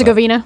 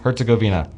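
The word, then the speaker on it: Herzegovina: um Canada and Bosnia slash her I can't pronounce Herzgoina Herzgoina.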